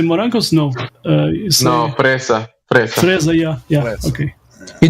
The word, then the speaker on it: fresa: Fresa. With the roll in the R.